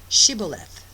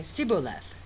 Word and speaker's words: Shibboleth: If he said no, then they would say to him, Then say Shibboleth. And he would say Sibboleth, for he could not pronounce it right.